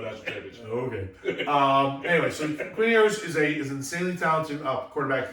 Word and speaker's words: Quinn Ewers: Quinn Ewers. Quinn Ewers, who was an Ohio State transfer, correct?